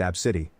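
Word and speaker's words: Abcde: hoola from Hawaii 10 AB bcde e pronounced AB City 11 NE also when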